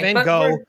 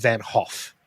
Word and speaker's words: Van Gogh: The proper Dutch pronunciation cuz he was Dutch is Vincent Van Hoff.